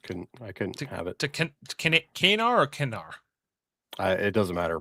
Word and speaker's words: Kanar: and has a drink, orders a glass of Kanar, as they pronounce it here, not Kanar, as we'll come to know it more in Deep Space Nine.